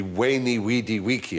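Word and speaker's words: Veni, vidi, vici: When I was taught Latin, we were taught to pronounce the V as a W. So it would be Weni, Weedy, Weeki.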